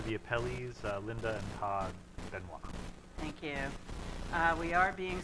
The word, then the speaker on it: Benoit: The matter before the court is Hancock 24-170 Wells Fargo Bank versus Linda Benoit, on contrary, I guess, to the usual Maine way of pronouncing, which is Benoit.